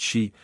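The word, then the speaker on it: Sidhe: experience is that beliefs in the Sidi pronounced she folk and in other denisons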